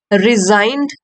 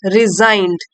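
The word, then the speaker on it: resigned: लेना चाहता है Birbal रिजाइंड and left रिजाइंड ji silent है रिजाइंड इस्तीफा दे दिया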